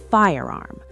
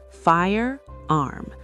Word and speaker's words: firearm: Firearm. Two syllables. Firearm. Notice the R is very strong in American English.